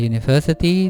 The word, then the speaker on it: university: Kata university dibaca dengan suara awal konsonan U, university.